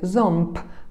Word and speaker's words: ząb: Tutaj przypominam również, że w języku polskim wygłos, czyli ostatnia głoska w wyrazie, jest zawsze bezdźwięczna i w wyrazie ząb na końcu nie wymawiamy b, tylko p.